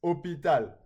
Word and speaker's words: hôpital: It's hôpital. The H in English is pronounced, but in French it's silent, so it becomes a vowel sound, okay?